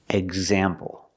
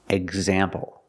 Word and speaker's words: example: We see that after the X, it's a vowel. There's a vowel after the X. That means you pronounce the X with a voice sound. Exit, example.